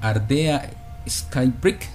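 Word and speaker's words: Ardea Skybreak: presencia de este libro en el ambiente académico ardea Sky brick se pronuncia Sí ella es la autora de de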